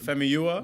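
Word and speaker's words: Famuyiwa: Eunice, you know how to pronounce Fumuya. it? Femiua.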